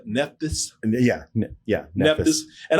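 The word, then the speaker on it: Nephthys: Neptis.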